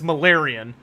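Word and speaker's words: Malerion: changed his name which it's spelled it's spelled like malan but it's malarian um and they they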